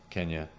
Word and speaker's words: Kenya: was born in in Kenya yeah they call it keenya back then I think is Kenyatta changed the pronunciation to sound like his name or something right and but anyway no